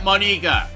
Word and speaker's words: Monika: ] for pronouncing it that way so i'm pronouncing it monika deal with it just shut your face here